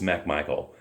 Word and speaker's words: McMichael: interesting thing is actually it's spelled MC but it's pronounced Mac and I don't think it's an over pronunciation but it's it's it's Mac Michael yeah so Herman Lee